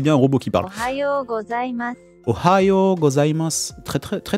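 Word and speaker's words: おはようございます: Ohayo gozaimasu. En plus, l'intonation est plutôt pas mal. Hein. Ohayo gozaimasu. On entend bien la prononciation du yo allongé.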